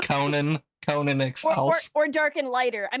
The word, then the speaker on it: Conan Exiles: It's pronounced Conan Exiles.